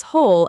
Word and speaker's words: whole: Meanwhile, on the whole keeps that short the because whole actually starts with a consonant sound, even though it's spelled with a sneaky, completely silent W.